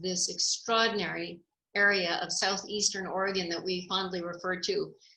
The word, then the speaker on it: Oregon: high desert encounters with rural America along the Oregon desert trail chapter one high centered first of all it's Oregon not Oregon and it's mal you're out here